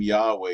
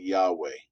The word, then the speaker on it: Yahweh: h w h but modern scholars have concluded that it likely was a something like yahweh uh what's the name